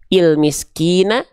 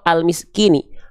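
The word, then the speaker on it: الْمِسْكِين: Dibacanya gimana? Il miskina, il miskini, ul miskini atau al miskini. Pasti al miskini.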